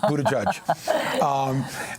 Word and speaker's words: Buttigieg: I'm not trying to pronounce the name. It is Buttigieg.